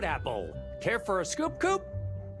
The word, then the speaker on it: Coop: Coop? That rhymes with scoop.